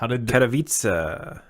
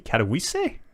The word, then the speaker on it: Katowice: Katowice, IEM Katowice.